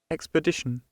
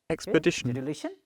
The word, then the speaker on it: expedition: you see this time the marker or the stress marker is in the middle so solution carefully Expedition Expedition Expedition see the sound